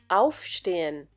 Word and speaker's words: aufstehen: In the case of trennbare Verben, the intonation or the stress is on the prefix. For example, aufstehen.